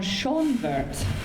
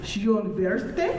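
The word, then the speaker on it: Schönwerth: The last name is V-O-N, not capitalized, but then it's capital S-C-H-O-N-W-E-R-T-H. It's magnificent, really. Oh, Schonwert. Pretty Garden, right? And today we can learn that's pronounced Schönwerte, Or Pretty, no.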